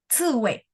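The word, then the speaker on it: 刺猬: 吃味 Ce wei. 吃味 Ce-nya 4 ya. Sudah bagus, Bu, untuk pronunciation-nya yang Z sama C dan juga sudah bagus sekali.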